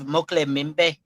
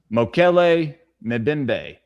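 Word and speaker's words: Mokele-mbembe: And have y'all ever heard of Mokle Mimbe from the Congo? Spell it for me.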